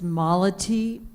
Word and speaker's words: Malati: Hi, my name is Malati. It rhymes with quality.